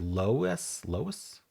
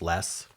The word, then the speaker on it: loess: Lois? That's an answer? Huh. I don't know what Lois is. Let's look it up. Define LOESS. Geology, a loosely compacted yellowish gray deposit of windblown sediment. Just less.